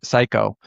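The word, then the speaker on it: Cayko: uh other partner Lance Psycho. He has a problem because it's C A Y KO and you know he pronounced it psycho.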